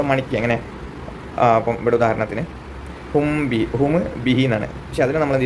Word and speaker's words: هم به: അപ്പം ഇവിടെ ഉദാഹരണത്തിന് ഹും ബിഹി എന്നാണ്. പക്ഷെ അതിന് നമ്മൾ എന്ത് ചെയ്തു? സുക്കൂനുള്ള മീമിന് ശേഷം ഹർക്കത്തുള്ള ബാഗ് വന്നതുകൊണ്ട് മീമിനെ അവ്യക്തമാക്കിയിട്ട് നമ്മൾ ബാവ് ഉച്ചരിച്ച് എങ്ങനെ? ഹുംബി.